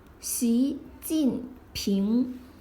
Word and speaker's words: 习近平: Xi Jinping.